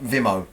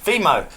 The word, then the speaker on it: Vimeo: Oh, what did I say? Vimo. Spelled the same. No. You do it. You do it. What? Vimeo.